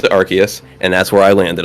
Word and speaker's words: Arceus: So, in my opinion, the way I interpreted that was Japanese, pronounced it Arceus, English, pronounced it Arceus, and that's where I landed on it.